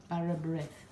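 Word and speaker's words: bara brith: Barra breath.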